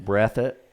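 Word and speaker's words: Breathitt: so okay that's brethren county that's brethren county breath it how you spell that b-r-e-a-t-h-i-t-t breath it okay yeah so so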